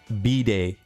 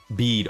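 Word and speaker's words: Bede: B-Day. I think that's how you say his name. Super cool character. Bead. Okay, Bead. I got you.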